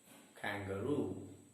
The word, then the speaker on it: kangaroo: the second word kangaroo it's a three syllable word and the stress is on the third syllable kangaroo and the third word